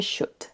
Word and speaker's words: should: Il en existe d'autres où le L est silencieux, comme would pour utiliser le conditionnel, could et should. Donc dans tous ces mots-là, le L est silencieux, ne se prononce pas du tout.